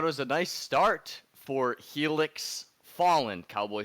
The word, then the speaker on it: Helix: formal apology to the felix holland nation i'm sorry for getting your name wrong this whole section up again dude it's helix he looks followed uh